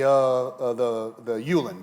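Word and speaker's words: Ullen: I will pronounce it the Yulin family. Is that okay? All right. It's your story. U-double-L-E-N.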